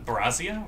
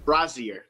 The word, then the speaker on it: brazier: Brazia? Really? Brazier.